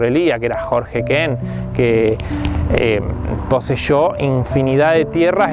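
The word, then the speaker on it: Keen: Y ella era hija de la familia Kehen, se escribe K-E-E-N, Kehen, se dice King también.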